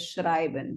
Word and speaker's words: schreiben: So if it's EI, you pronounce the word as schreiben, but if it's IE, then it's schrieben.